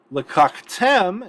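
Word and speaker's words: לקחתם: Lakaktem is accented on the final syllable because it's actually closed, and so it brings the accent mark all the way down with it, which means this first kametz has to reduce.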